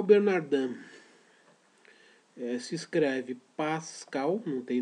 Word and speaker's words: Bernardin: Pascal Bernardin, se escreve Pascal, não tem nenhuma dúvida, né? Pascal, P-A-S-C-A-L. Bernardin é um nome francês, então se escreve Bernardin, com I-N no final.